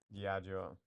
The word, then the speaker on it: Diageo: Uh, Pronunciation. Diageo. Diageo.